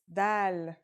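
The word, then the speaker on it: دال: Our first letter is dal. It's just like the English D.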